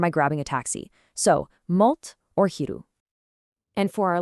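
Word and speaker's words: մոտ: For near, the word is mot, pronounced mot.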